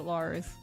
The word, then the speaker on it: Liz: Just spelled like Liz, but you pronounce it Lars.